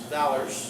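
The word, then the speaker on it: velars: pallet or the roof of the mouth you pronounce that Val v e l a RS Valor and then you have what we would call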